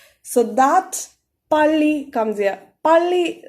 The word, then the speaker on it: 빨리: 빨리, so 상비읍 is literally pronounced as pa, with a lot more stress. Like we told in the case of 따라와, 빨리 also gives a lot of stress for 상비읍.